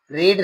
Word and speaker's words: read: अलग हो जाता है, रीड को रेड, ठीक है, रेड ऐसे पढ़ लेते हैं।